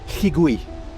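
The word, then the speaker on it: Llugwy: Ça se prononce Lligui. Lligui. Lligui. Lligui. Oui. D'accord, donc 2 L, ça se prononce. Voilà. D'accord. Voilà. Donc faut un peu postillonner.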